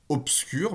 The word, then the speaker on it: obscur: Epsilon, obscur, même chose qu'obtenir, hein, c'est un B orthographique, mais c'est pas du tout prononcé B, c'est bien